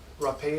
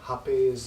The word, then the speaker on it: rapé: also the name repay its repay is the Spanish pronunciation ha pays of Portuguese which is because because